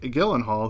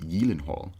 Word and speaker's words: Gyllenhaal: Dennis Quaid, who played Jack Hall, and Jake Gyllenhaal, who played his son Sam Hall. Did you know it's pronounced Gyllenhaal?